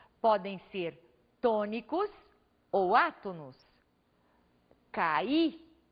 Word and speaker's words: caí: Caí. O I foi pronunciado com bastante intensidade. Temos aí uma vogal tônica.